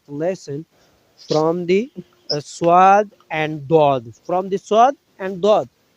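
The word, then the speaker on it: ضاد: Dod. Dod. Dod. And Dod. which spell, please? D-A-W-D. Oh, which name pronounced Dod.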